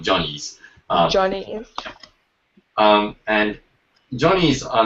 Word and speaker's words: Johnny's: We pronounce it Jenny's, but it's actually called Johnny's.